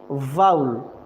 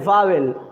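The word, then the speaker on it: vowel: बता रहा हूं ठीक है कैसे वी वी वाउल बहुत सारे बच्चे बोलते हैं वावेल बाउल this is the incorrect spelling not this is right sound okay वाउल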